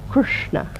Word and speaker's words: Krishna: feeling on our system I gave an example last time of the word Krishna which has got a dot underneath they are the s and the N which means that it's a pronounced with the tongue pointing towards the roof of the mouth Krishna try that so it's not pronounced